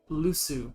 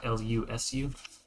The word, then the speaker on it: Llusu: That's a, is that Lusu? LLUSU. Okay. It's Lunaria, Zikoria, Lusu, and Amzar are the nations. He said they're what? It's a Lusu code. Spell it again? LLUSU. Like llama, but Usu.